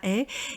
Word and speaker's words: haie: Et ici donc nous avons un H aspiré, j'ai fait exprès de le mettre dans l'exemple. Vous voyez bien que ça s'appelle H aspiré, je n'ai absolument fait aucun son avec ma bouche, j'ai dit la haie